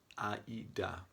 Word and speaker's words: AIDA: It's called AIDA, German pronunciation.